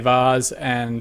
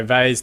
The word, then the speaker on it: Vase: There's FA Vars or FA Vase, depending on how you want to pronounce it, and FA Trophy fixtures also happening around the leagues today.